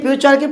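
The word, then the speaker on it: future: এর উচ্চারণ ফিউচার ফিউচার অনেকে ফিউচারকে ফুটুরে বলে কিন্তু সঠিক উচ্চারণ কি হবে? ফিউচার।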